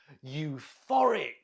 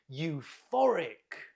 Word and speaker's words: euphoric: Euphoric. Euphoric. Look at the pronunciation. The stress is on the middle syllable. Can you repeat? Euphoric.